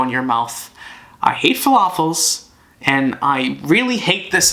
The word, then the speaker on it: falafel: above waffles nonetheless and here's falafel it rhymes with waffle before I knew what